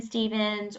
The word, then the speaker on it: Stephens: So, if people want to know more about Jen Stevens, or they want to follow you, or where can they find you?